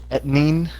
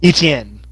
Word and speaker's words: Etienne: Etnine, was it? I already forgot how to say it. Out of Clemson. Oh. Etienne.